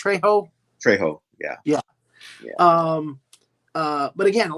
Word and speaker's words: Trejo: Am I pronouncing that correct? Trejo? Trejo, yeah.